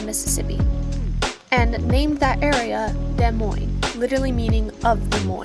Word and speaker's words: Des Moines: a more Central Capital it was decided that De Moine would be the new capital De Moine is more Central than Iowa City but still slightly Southwest and yes it is pronounced de Mo not Des Mo please don't do that which is French but